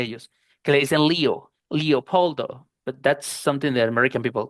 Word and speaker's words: Leopoldo: que son nombres latinos, pues habría que pronunciar Leopoldo, este porque podrían decir Lepel, pero if your name is Leopoldo, pues Leopoldo van a tener que decirte eo eo.